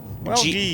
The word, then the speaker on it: Welgie: So pronounce Welgie. Welgie. Ghee. It's like ghee, like the clarified butter.